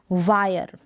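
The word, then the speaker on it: wire: अब यहाँ पर र का साउंड आ रहा है, हिंदी में देखिए लास्ट में जो है ना ई है, क्या है लास्ट में ई है और ई साइलेंट है, इसलिए आपको आर का साउंड सुनाई दे रहा है, आर का। वायर क्या है वायर, और आई को आई करके प्रोनाउंस कर रहे हैं।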